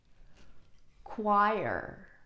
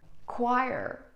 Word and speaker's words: choir: Choir. Choir.